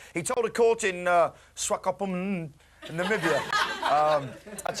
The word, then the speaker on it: Namibia: it's not pork he told a court in Namibia um that's how it should be pronounced actually uh I went mad M with